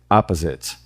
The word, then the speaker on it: opposite: A primeira sílaba é up, a segunda é a e a terceira é zit.